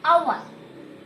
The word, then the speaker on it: hour: So why we are using is, again, hour is H is silent there. And it is pronounced like hour.